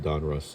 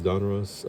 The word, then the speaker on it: Donruss: So, again this is one '86 Donruss, is how you pronounce it, I think.